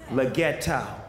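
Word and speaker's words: Leggero: Is that how you say it, Leggetto? Leggetto.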